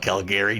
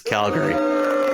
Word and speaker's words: Calgary: do the Stampede Wrestling don't don't call it Calgary Jesus isn't that how it's pronounced oh my God no no it's Calgary it's Calgary okay I have to